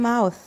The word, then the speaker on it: mouth: I have one mouth. وطلع لسانك وانت بتنطقها. Mouth. Mouth.